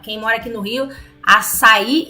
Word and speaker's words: açaí: Gente, tem acento no i. Então é açaí, não açaí. As pessoas têm mania de querer dificultar. Se tem um acento, pronuncia com a sílaba tônica certa.